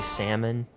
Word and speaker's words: salmon: Is it kind of like you don't say salmon, you say salmon? Yeah, exactly. The L is silent.